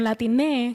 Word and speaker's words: Latine: So that's where the term Latine comes in, because the X is pronounced as E, at least in Puerto Rico. We pronounce the X as E.